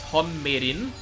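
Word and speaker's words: Hong Meiling: Hong Mei Ling! Which is her full name, which can also be pronounced as Hon Meirin.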